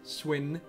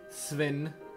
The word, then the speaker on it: Sven: My name is Sven. Sven. S-V-E-N. I just usually say it Sven or Sven.